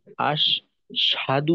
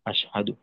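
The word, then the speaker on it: أَشْهَدُ: আর এই অংশে আশহাদু আশহাদু ক্ষেত্রে জি এখানে আশদু যেন না হয়।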